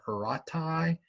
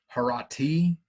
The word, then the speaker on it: Horatii: And this is, now I've heard this pronounced Oath of the Horatii, and I've also heard it pronounced Oath of the Harati.